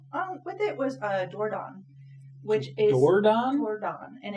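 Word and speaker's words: Dordogne: with it was a doordan which is and it's I'm not saying it correctly because it's a region in France and there's a g at the end okay um but it's something like that how do you spell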